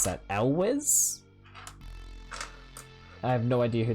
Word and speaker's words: Elwes: I have no idea how to pronounce that. Elwes? I have no idea who that is either. Also... No wait, yeah, Elwes?